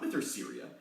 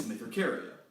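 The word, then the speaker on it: Mytherceria: pronunciation with Joe lesson it's a Greek word it's not with their Syria it's mafic area anyone to let you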